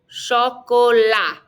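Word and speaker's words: chocolat: don't pronounce the ass repete lo francais don't pronounce the t le choco la lo chocola all right our next slide these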